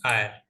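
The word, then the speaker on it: hour: मैन एन R okay यहां पर य एच नहीं है यह साइलेंट है तीनों में और ऑनेस्ट मैन एंड आयर ठीक है समझ रहे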